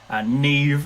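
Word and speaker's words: Niamh: Like Neve and like names like Neve. That's the classic. You don't know how to pronounce Neve. It's spelled like Niamaha.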